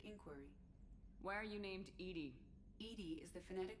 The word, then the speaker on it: EDI: Hi, Edie. I want to know more about you. Do you have a specific inquiry? Why are you named Edy?